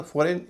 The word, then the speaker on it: foreign: जैसे FOREIGN और SOVEREIGN, इसका उच्चारण फॉरेन या सोवरेन नहीं होता, फॉरेन और सोवरेन होता है।